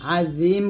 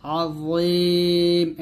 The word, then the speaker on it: عظيم: حفظهما وهو العلي العظيم এখানে য মোটা করবেন যেন জাল না হয়ে যায়, আজিম বলবেন না, আযীম এরকম।